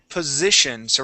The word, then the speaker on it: positions: really good job uh this word here is position so we're going to use the voic S here positions positions okay one more time positions It's tricky because you're going from vo voiced s into the Argentine sha okay positions positions POS